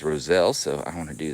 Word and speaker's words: roselle: roselle and thank you i was corrected on how i was pronouncing this i was calling it roselli apparently the the socially acceptable way to say it is roselle so i want to